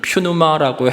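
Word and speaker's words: πνεῦμα: 어 여러분 신약 시대 때는 신약 시대 때는이 성령을 퓨누아라고 헬라오로 반야 그 발음합니다.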